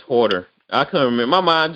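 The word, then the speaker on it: Huerter: pronounce that man's name. Yeah, it's Horter.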